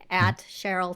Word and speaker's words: Sherylle: I'm I'm on Instagram, Cheryl.